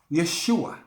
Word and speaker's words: Yeshua: In his original Hebrew name, or Arabic name, let me say it right, it's pronounced Yeshua.